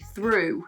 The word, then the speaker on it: through: in the same way through the ending is boom and thorough the ending is ah and they're both spell